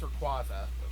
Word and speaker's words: Rayquaza: yeah Ash doesn't have a qua actually it's Rayquaza whatever poemon pronunciations are up in the air sometimes and